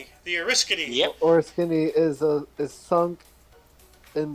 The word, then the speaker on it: Oriskany: all on So, aircraft carrier USS Oriskany? Is that how you say it? The Oriskany.